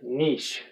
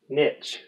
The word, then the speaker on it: niche: extinction conservation biosphere and give us a thumbs up if you pronounce the word niche never give this video a thumbs down if you pronounce it niche requirement number three reads